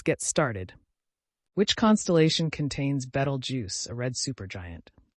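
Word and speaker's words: Betelgeuse: Which constellation contains Battle Juice, a red super giant? Orion, pronounced Beetlejuice, it's Orion's brightest star.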